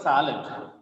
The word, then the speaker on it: salad: The word salad. The vertical bar is noted in front of the first syllable, that is sad.